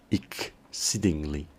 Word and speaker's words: exceedingly: pronunciar la palabra exceedingly, la E del comienzo sonaría como una I y la X como una K, exceedingly, exceedingly, que podría entenderse como lo que en español expresaríamos como extremadamente o sumamente.